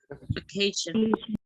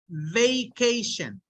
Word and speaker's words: vacation: So when you pronounce it, make sure that you say vacation. Like bacon. Like bacon, right, right.